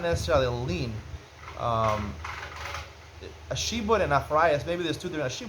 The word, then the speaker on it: lien: a lean on it a lien is spelled l-i-e-n but it's titled lean I would say it's like leaning leaning meaning the property